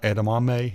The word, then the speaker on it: edamame: chickpeas and it has edama edamame is how you say it it's carrots man